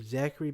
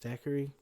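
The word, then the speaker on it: Thackery: I named him Zachary Binks without knowing it's pronounced Stackery.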